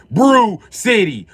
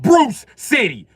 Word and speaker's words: Bru Sitdee: It's Bru fucking Sitdee. Not Bruce Sitdee. They don't even say Bruce. Say Bru. I didn't spell it B-R-E-W.